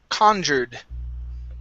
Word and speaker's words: conjured: And the last one for you is conjured. Okay, stress at the beginning. Conjured. Conjured.